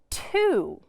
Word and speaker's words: to: Just like do, the first letter is pronounced as we would expect. The T says T. And also similar to the word do, the O is pronounced like ooh. So this is the word t, ooh, to.